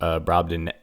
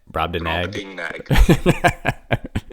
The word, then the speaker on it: Brobdingnag: Brobdingnag. Brobdingnag.